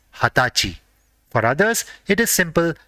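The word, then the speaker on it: 二十歳: For 20 years old, there is a special word and it is hatachi.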